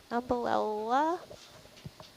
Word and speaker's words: Umbellula: It is, we think it's let me say it right, umbellula. Interesting. Umbellula. I always say that wrong. Umbellula. Can you spell that?